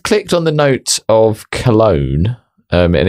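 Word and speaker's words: Calone: So, I've clicked on the note of cologne. Um, and it's spelled C A L O N E by the way, not as in like cologne. So, if you do that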